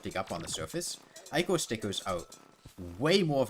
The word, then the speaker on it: ichor: No, it is pronounced Ichor. You're welcome to say it wrong, but that is how the word is pronounced.